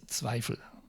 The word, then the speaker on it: Zweifel: But if you pronounce it word by word, letter by letter in German, it means Zweifel, which means doubt.